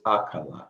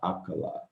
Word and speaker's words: akala: So here we have A, Ka, La. We put it all together. It's akala, akala, akala. Say it as if you're singing and it comes out really, really smoothly, akala.